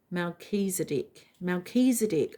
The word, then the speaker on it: Melchizedek: Melchizedek, pronounced... Oh, okay. I said it wrong. Melchizedek.